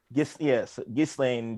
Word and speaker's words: Ghislaine: recently convicted sex trafficker, because it would be pronounced Ghislaine if it was actually French. But so we'll go Ghislaine. all right. Ghislaine dealing with her own